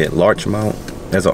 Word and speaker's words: Larchmont: left large Mount L how you say it Larch Mount there a r Larch Mount Larch M yeah